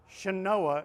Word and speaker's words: Chenoa: ch e n is in nancy o a shinoah is how they pronounce it it is another down payment assistance